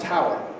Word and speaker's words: tour: It was short for tour of duty, but pronounced tower, T-O-U-R.